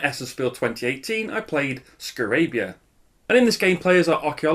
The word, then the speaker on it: Scarabya: And here it is, Scarabya. I'm assured that is how it's pronounced.